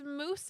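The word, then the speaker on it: Mousse: Um, it's moose as in like the the food. It's spelled like the food. M O U S E.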